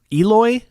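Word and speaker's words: Eloi: Like, and I say Aloy not like from Horizon Zero Dawn. I say it like the Aloy from Eloy from the Time Machine.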